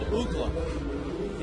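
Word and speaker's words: Uggla: the home run call the pronunciation chart that we got from Major League Baseball said UGA and as he walked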